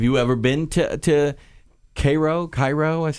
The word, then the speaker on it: Cairo: Cairo is how they say it.